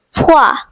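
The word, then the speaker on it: froid: The next French word is fua which means cold. The silent letter is d.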